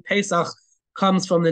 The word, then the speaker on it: Pesach: But technically, if you look at the Bible, it's not called Pesach. It's actually called Pesach with a segol under the initial pe.